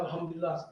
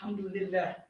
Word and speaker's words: Alhamdulillah: But when I hear a Muslim, he says, Alhamdulillah, I go, it's not Alhamdulillah, it's Alhamdulillah in Arabic.